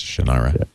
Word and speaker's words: Shannara: Terry Brooks today and he said sort of Sean I right so excuse me Mr Brooks I believe that's pronuncially wrong it's Shannara I know you wrote it